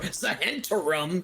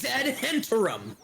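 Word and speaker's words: Zhentarim: And I will have you know, sir, it's not Zentum or Zahentum, Mr. Rugan. It's Zentum.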